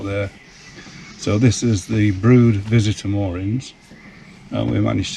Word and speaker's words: Brewood: We're at a place called Brewood, which is spelt Brewood but pronounced Brood, and it's a fine